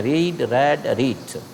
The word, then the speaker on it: read: रीड ऐसा verb है जिसका तीनों फॉर्म का स्पेलिंग चेंज नहीं होता, लेकिन बोलने में क्या बोलते हैं? रीड, रेड, रीड.